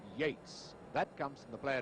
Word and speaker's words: Yeats: argument for all time, although it's spelt Yeats, he pronounces his name Yates.